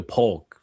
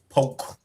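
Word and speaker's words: Polk: You got to say it right, Poke. Yeah. Now that K silent it's P it's P county I say Grady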